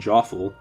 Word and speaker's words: Joffle: Mackles who are just stronger Lucas, and Jinx, the first Mario RPG enemy whose name rhymes with awful.